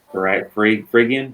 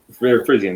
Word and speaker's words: Phrygian: such as White Rabbit being I always can't pronounce these, Phrygian? There we go. Phrygian, there we go.